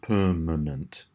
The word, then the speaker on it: permanent: So in this one, we have the word permanent, and of course it's the last two syllables, manent, which have that schwa sound.